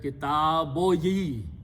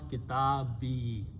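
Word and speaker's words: كتابي: So when you read these together, it should be read kitaboyi, right? Or kitabuya. But to make it smooth on the pronunciation, we do not pronounce even that one pesh. We just pronounce kitabi.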